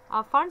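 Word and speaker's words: Pfund: Brackett series IR region, फंड series, ये पैफंड नहीं अपने पढ़ना, पी साइलेंट है यहाँ पर, ये फंड सीरीज है दैट इज आईआर रीजन।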